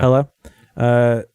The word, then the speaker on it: Hela: That's how you pronounce it? Yeah, Hela. Yeah. Hela.